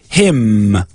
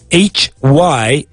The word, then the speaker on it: hymn: But there's no vowel sound after it. And so that's what makes the N mute. We don't say hymn. That's incorrect. We say him.